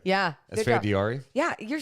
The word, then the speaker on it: Esfandiari: Esfandiari.